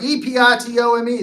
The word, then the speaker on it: epitome: And he's like, E-P-I-T-O-M-E, the epitome. That's pronounced epitome, right?